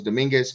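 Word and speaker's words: Domínguez: It was Dominguez, Gisham, and Gosmith.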